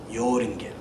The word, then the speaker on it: Joringel: with a J but in Germany and in Scandinavia J is pronounced like a y yinda yoring so now I'll begin